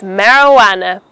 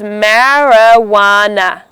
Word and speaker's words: marijuana: The next commonly mispronounced word is marijuana. Now this is an illegal drug which is usually smoked in cigarettes, and it's pronounced as marijuana.